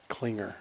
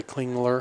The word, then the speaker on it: Klingler: The L is silent at the end of Klinger. Klinger. Did I say Klingler?